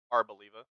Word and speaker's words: Arboliva: Arboliva.